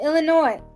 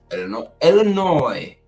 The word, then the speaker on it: Illinois: No, Illinois. We don't say the S. Chicago, Illinois.